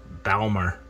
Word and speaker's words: Balmar: test uh because their bulmer wasn't they're i think it's pronounced balmer uh regulator wasn't coming